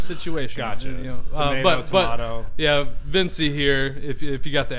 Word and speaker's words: Vinci: Yeah, probably in Italy. That's probably how you say it. I think so. Mike Vinci. But here in America, it's Vinci, apparently. Vinci, I'm just saying what okay.